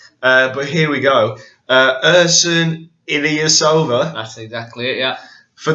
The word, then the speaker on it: Ersan Ilyasova: You'll have to forgive me if I mispronounce his name. Yeah. But here we go. Ersan Ilyasova.